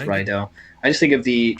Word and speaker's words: Riddell: Next up, we have a welterweight bout between Kiwi fighter Brad Rydell or Riddell. I always forget how you say it. I think it's Rydell.